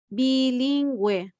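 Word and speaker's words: bilingüe: have the g and if you see we just add two dots on the top of the u that is for pronouncing that you because here we are going to pronounce bilingue so this is the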